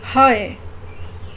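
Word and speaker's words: high: Like first example है हाय, हाय। और second example है लाइट। अब देख लें, इसमें GH प्रोनाउंस नहीं होता, हम एक किस्म को प्रोनाउंस करते हैं LA और IT, लाइट, लाइट।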